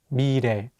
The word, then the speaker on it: 미래: Let's do another example with the word 미래, meaning future. Here, the 리을 consonant is between the vowels E and 에, so it'll have more of an R sound. Let's say it together, 미래.